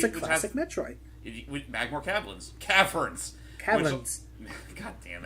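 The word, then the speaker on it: Magmoor: Also, so I know it's pronounced Magmore, but for some reason the way it's spelled makes it more like Magmur.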